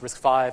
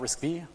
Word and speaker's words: RISC-V: you were aware that risk five is actually pronounced risk five and not risky it's actually pretty good okay all right how